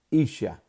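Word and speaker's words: איש: La palabra varona para, en el hebreo es la palabra isha. Isha. Y se escribe I-S-A-H. S-H-A. Repito, la palabra para varón en hebreo se llama isha.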